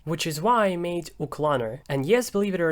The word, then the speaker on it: uclanr: bit too much, which is why I made uclanr. And yes, believe it or not, that's how you pronounce it.